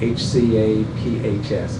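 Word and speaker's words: HCAHPS: There's something within Press-Gaining called HCAP scores, which basically, HCAP, H-C-A-P-H-S, HCAP is the acronym for it, is how they pronounce it.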